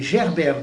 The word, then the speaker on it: Gerbert: Manessier, un certain Manessier, et puis alors un certain Gerbert de Montreuil, comme ça se prononce Gerbert, le prénom, et de Montreuil.